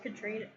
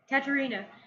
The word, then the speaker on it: Katerina: I liked Katrina. Katerina. Sorry, I didn't say her name.